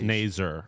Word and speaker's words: Nazar: Incorrect pronunciation. It's Nazar, according to this college hockey pronunciation guy.